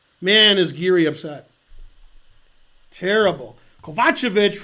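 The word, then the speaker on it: Kovačević: is geary upset terrible kovachevich rhymes with gotcha that is correct yes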